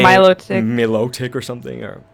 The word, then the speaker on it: Milotic: like say my look Milotic or something or some people say melodic I don't say it like that I say Milotic yeah I think Milotic is how I say it but essentially that's kind